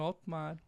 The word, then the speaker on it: Hottmar: Meu nome é Otmar. Nunca paro para falar a pronúncia, senão eu nunca vou parar de falar.